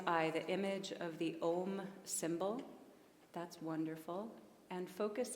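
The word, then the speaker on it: aum: word m written out it is uh most accurately spelled with an a u m a u m all three of those sounds so starting with an openness that becomes directed and it's just the vibration of the M that we can feel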